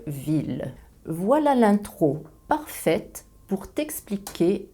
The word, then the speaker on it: ville: Je prononce ville ou tranquillité, mais meilleure et vieille. Je prononce la phonétique le ou la phonétique ye.